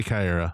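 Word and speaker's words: Caiera: Yeah, let's say Kyra. Yeah, it's Kyra.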